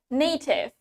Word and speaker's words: native: We have native. So, in British English, we pronounce it as native. Native with T dengan T. Now, in American, we pronounce it with D. Di American English, kita pakai huruf D.